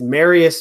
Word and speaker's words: Marius: you sure you're mmm that is actually how it's pronounced it's Marius Marius come on Marius Marius